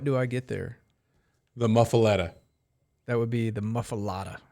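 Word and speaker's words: muffuletta: I get there the muffaletta that would be the mufa mafala are you sure how's it spelled well it's spelled with an e but everybody says mafada okay my bad I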